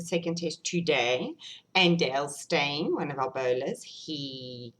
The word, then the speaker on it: Steyn: Because you know stain, S-T-E-Y-N, you say it like stain as in you've made a stain on your clothes.